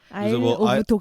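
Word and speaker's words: Isle of Dogs: 아이러브독이었던 거 같아요네 맞아요 아이 오브 독 스데 약간 빨리 읽으면 아이러브독 맞아 그래서 그 발음이 빨리 하면은 아이러브 독이 돼 가지고 그렇게 해서 일부러 지은 이름이라고 해요 감독 말이 왜 멘붕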